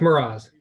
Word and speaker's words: Mroz: How do you pronounce that? You did very well. It's Miraz.